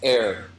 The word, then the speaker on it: heir: Katherine Howard Katherine par proper pronunciation is air yeah it is ha and that one Noah's hair oh no I had to make that joke I play down here pronunciation is air as an oxygen like breathable air yeah had to ruin